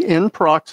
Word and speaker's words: nproc: As I said, it's NPROC, in prox, how I pronounce it.